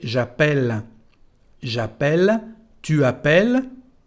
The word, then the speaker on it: appelle: Bueno, cambian el sonido de la letra E. En vez de decir E, se transforma en E. El sonido es E. Por eso se dice j'appelle.